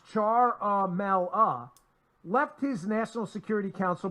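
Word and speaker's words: Ciaramella: whistleblower he says further charmella pronounce char mal ah left his National Security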